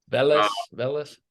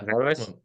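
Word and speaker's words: Vallas: Velas, yeah. Velas.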